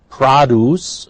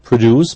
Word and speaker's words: produce: Produce. Notice it's a noun, therefore not produce, but produce.